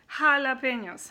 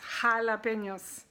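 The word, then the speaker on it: jalapeños: j is called Hotah in spanish and it's pronounced half like a kind of girls aha jalapenos jalapenos Halabi hamoon which is ham come on okay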